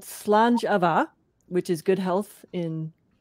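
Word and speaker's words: Slàinte mhath: But I'm renaming it Slanjava, which is how you say it in Scottish. It's that word that looks like Slainte Mahath.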